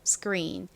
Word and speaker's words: screen: screen. 이때 C 역시 좀 된 소리로 세게 발음을 해주시면 더 원어민스러운 발음이 됩니다.